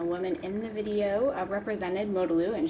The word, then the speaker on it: Modalu: in the video represented Modalu, and she said it Modalu, not Modalu or any of those other pronunciations I've heard.